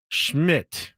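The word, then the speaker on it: Szmyt: It's Andrew Schmidt, but it's spelled Szmmy T. No vowels.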